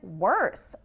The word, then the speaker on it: worse: And worse. Worse actually has that R-colored vowel again. Worse. Worse has that R-colored vowel again with the sound.